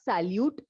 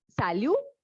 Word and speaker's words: salut: Initially, to initiate conversations among the people, the most common greeting is salut. Okay, it is salut. Salut means hi. Just remember, it is not salute. T will be silent. So it is salut.